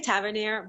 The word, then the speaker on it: Tavernier: Like Tavernier? That's fine. No, but say it how you say it. I say Tavernier, but that's the actual French way, the way Yeah, you okay, I speak French.